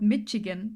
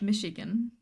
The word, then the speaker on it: Michigan: um as thing that it is not called Michigan but Michigan. I was pronouncing this Michigan with a ch forever was fun not too stressful.